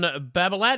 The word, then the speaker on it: Babolat: Wilson took on Babolat. Is that how you pronounce that?